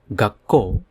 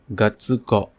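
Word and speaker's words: 学校: Hence, it have to be pronounced as gakko, not gatsuko.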